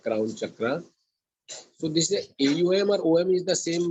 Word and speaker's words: Aum: A represents, when you pronounce A, your mouth opens up, A, vastness. U narrows down, your lips and your mouth narrows, U, to pronounce U, which is focus. And when you pronounce your lips are together, oneness, and it travels to your Saharara. And that is how it should be pronounced.